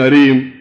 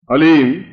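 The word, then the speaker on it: ह्लीं: वो बोले ओम हलीम, बस ये हलीम शब्द बहुत ध्यान से उच्चारण करने देना है, HALEEM, हलीम। कोई बोले हरीम, कोई बोले हीम, तो कुछ फायदा नहीं होगा। हलीम, हलीम, ह आधा है, ओम अभी बोलना, ओम हलीम बगलामुखीम सर्वदुष्टा नाम।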